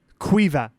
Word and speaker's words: Caoimhe: I'll spell it out first. Caoimhe. Caomhe. Caomhe. Caomhe. Caomhe. Quiva.